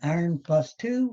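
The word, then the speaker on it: iron(II): And iron +2 would be called iron 2, and it's pronounced iron 2 chloride.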